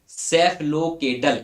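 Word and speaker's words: cephalocaudal: ठीक है, जिसको, ये देखिए स्पेलिंग बहुत बोनांजा सी थी, खतरनाक टाइप की, इसलिए सेफलोकेडल इसको पढ़ते हैं, हिंदी में भी लिख दिया है, देख लेना।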